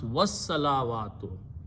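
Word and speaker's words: والصلوات: As-salawa, or so when we pronounce with the waw, we pronounce was-salawatu.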